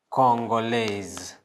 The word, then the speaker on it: Congolaise: Congolais, we pronounce it as Congolais. And feminine form, Congolaise.